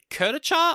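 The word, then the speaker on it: kurdaitcha: They also describe the donkeen as a kuriche I think is how you pronounce it which they say is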